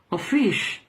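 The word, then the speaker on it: office: simplemente el término oficio ofish se pronuncia Así que es un término para oficio fis en inglés por lo tanto cuando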